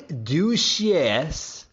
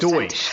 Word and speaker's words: Deutsch: Donnie Duchesse, if I'm pronouncing that right.